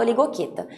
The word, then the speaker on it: Oligochaeta: primeiro deles é oligoqueta se escreve oligochaeta mas se fala eu ligo quita esse grupo apresenta poucas